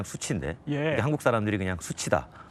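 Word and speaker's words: SU7: 수치라는 이름으로 처음에 등장해서 이게 이제 중국 발음으로 그냥 수치인데 한국 사람들이 그냥 수치다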